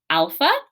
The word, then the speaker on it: alpha: But alpha, all right, alpha is pronounced kind of like our ah sound, like our short A sound.